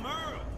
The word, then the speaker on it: Merle: Hey there, I'm Merle. Spelled like Hurl.